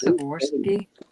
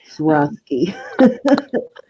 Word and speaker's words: Swarovski: This is Swarovski.